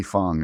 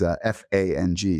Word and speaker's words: Fang: And again, Lee, Lee Fong, it's F A N G. I think it's Fang, but it's pronounced Fong.